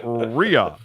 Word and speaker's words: Rea: Walter Cronkite, they finally determined that Chris R.E.A. is pronounced Rhea.